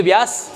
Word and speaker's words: ब्यास: में दिक्कत आएगी देखो नदी का नाम है व्यास लेकिन इसकी स्पेलिंग बी से स्टार्ट होती है आप ी से नहीं करोगे यह ब्यास लिखते हैं ज्यादातर ब्यास बी वाई S spelling बनेगी लेकिन बोलेंगे ब्यास यह इसके रूल कैसे बना